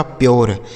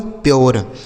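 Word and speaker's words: pure: तो यू के साथ अगर आर ई लिखा हो तो इसका उच्चारण हमें यो करना।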